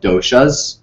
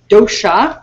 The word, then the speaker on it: dosha: They are called doshas. You're going to hear some funky words tonight. Dosha.